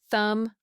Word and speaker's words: thumb: Words ending in MB almost always have silent B. Lamb, thumb, climb.